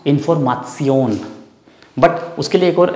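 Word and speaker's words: Information: Same spelling है, बट we speak, we pronounce इन्फॉर्मासियोन.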